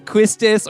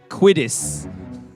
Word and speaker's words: Quistis: her name it's quiz if you just pronounce it as it is written it would be pronounced there's an s and a t but you're like i